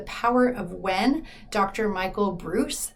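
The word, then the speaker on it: Breus: of when Dr Michael Bruce it's spelled b Ru s so it looks like braus but he pronounces it Bruce I I read this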